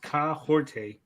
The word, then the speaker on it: Kahhori: So, so Aston says pronounced Kaorte is a real Wolf Clan name meaning she stirs the forest or is someone who motivates those around her.